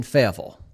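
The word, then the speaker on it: Fayetteville: the form of the Arkansas Razer backs in faville yes tiger fans I am pronouncing that properly with proper aranson dialect fille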